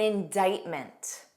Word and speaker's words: indictment: Two other words with a silent C are indict and indictment.